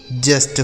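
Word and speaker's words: just: गया लक हो गया जे यू एस टी जस्ट हो गया ठीक है जे से हो गया ज यू का उच्चारण अ हो गया एस से आधा स और टी से ट लिखा है जस्ट डी यू एस टी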